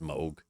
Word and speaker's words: Moog: mini Moog mini Moog I always say Moog because it's double G but it's supposed to be pronounced Moog whatever just focus on